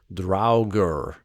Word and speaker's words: Draugr: an old norse thing the old norse pronunciation would have been draugr where the first syllable rhymes with now sounds more like draeger